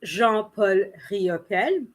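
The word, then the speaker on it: Jean-Paul Riopelle: french so of course i have to pronounce the name in french so it's jean-paul ryope he is from quebec and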